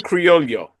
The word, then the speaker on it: Creo: to do it right it's like if it was a y Creo Creo yeah Creo yeah creio I love it